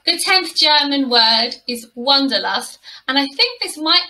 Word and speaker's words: wanderlust: i really like it it's probably pronounced completely differently in german but in english we call it wonderlust and let's have a